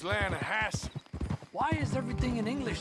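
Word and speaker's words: Lannahechee: the right here I rode down to the linahatchee river I caught some beautiful steelhead trout you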